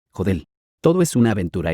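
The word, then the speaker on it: HODL: H.O. D. L. Pronunciado, Jodel.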